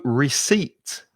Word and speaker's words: receipt: it with me psychology and also receipt that c-e-i-p-t is really difficult just think of seats is where you sit